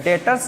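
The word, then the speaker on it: debtors: डेटर्स बोलते हैं इसको, बी साइलेंट होता है, डेटर्स अकाउंट।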